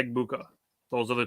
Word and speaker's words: Egbuka: I had to look up Egbuka just to make sure I was saying it right, and I was.